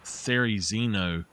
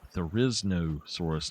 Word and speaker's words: Therizinosaurus: Therizino is, that's another way you can pronounce it, is Therizino, or Therizino. But it's, if you look it up, it says it is Therizinosaurus, like there is no source.